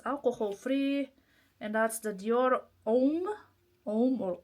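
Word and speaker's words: Homme: And that's the Dior M or home. Uh here you don't pronounce the H apparently on those.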